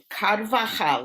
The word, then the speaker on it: Carvajal: we got kadva and you know that in in spanish you laugh right j-a-j-a-j-a and chanukah is spelled with a j and hai is spelled with the j so it's called okay